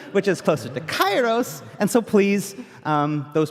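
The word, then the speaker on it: Chaos: with the Greek Heritage that this is actually pronounced closer to Kos um but we're using the ancient Greek pronunciation which is closer to chyos and so please um those people that are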